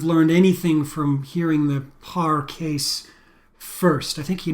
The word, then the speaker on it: Pare: 1971 case of Alice par I think that's how you pronounce it there's no accent so I don't think it's Alice paray um Alice Parr um so we're gonna talk